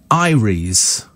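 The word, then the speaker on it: Eyeries: listen so it's it's pronounced how is it pronounced Ires says Michael Ires there you go I live and learn every day every day is an education as far as I'm concerned so Ires West cork in Ireland thank you very much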